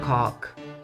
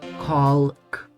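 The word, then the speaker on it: caulk: I think it's spelled C-A-U-L-K. Cock. Colk.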